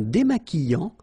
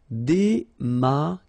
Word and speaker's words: démaquillant: Un démaquillant. So we've got this QU, but then U is not pronounced. So you get the sound qui. Okay, and then remember, double L after E will give you the sound y. Démaquillant. Final T not pronounced. Démaquillant. Okay, and this is nasal in your nose.